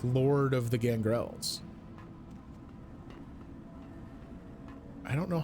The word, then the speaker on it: Gangrel: Well, he's just a Gangrel with additional style, right? He's like Lord of the Gangrels. I don't know how I would get to that, though. Gangrel. Okay, so it is on the second syllable.